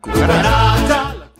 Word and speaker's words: cucaracha: So it's pronounced like a K when it's followed by an A, O, or U, like in casa, coche, and cucaracha.